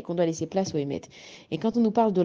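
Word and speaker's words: אמת: nous parle de vérité la vérité ça se dit émette et ça s'écrit Alf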